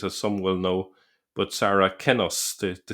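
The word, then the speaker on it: Saracenus: some will know but sarah kenos the the c be the c was pronounced with a k sound in earlier centuries.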